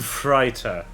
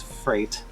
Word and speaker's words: freighter: as an a so it's freight not fright and got it freighter freighter it sometimes sounds